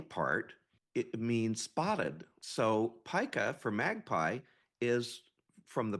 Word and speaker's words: pica: correctly cuz sometimes people think it should be Pika I don't know why but it is pronounced Pica I you know when I first heard it